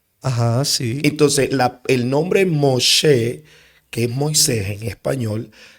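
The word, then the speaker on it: משה: Moshe, como se pronuncia en hebreo, no representa el sacado de las aguas.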